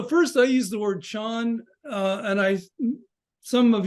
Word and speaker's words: Chan: I use the word Sean uh and I some of you might not know that that's the Chinese um pronunciation of uh of the there's an